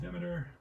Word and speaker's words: Demeter: how you pronounce that name let's check another pronunciation at 423 423 um demeter yep that's it so let's roll there's a